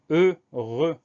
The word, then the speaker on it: heureux: Ensuite, dans ce mot-là, on a deux fois le son E. Et les deux fois, ça s'écrit E-U. Donc, ça veut dire H-E-U, R-E-U. Deux fois, on a E-U pour avoir le son E. Et enfin, on a une autre lettre muette, c'est le X final qu'on n'entend pas.